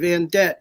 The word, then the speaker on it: Vandette: So ANDY, V as in Victor, AND like David, ETTE, Van Det. It rhymes with a Corvette, so you don't forget.